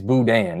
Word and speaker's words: boudin: It's boudin. Yeah, see, this is what I got to. I knew you were saying it wrong, but I wasn't going